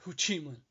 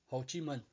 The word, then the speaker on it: Ho Chi Minh: speaking it wrong and you say hoochie Minh I said no no no no no Ho Chi Minh okay he's a communist leader in Vietnam and the way I say it pronounced the Vietnamese words that's how I was born and raised not the American Way not I'm not killing